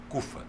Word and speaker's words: CUFA: Central Única das favelas CFA pronuncia naturalmente CUFA Mas vamos lá Presidente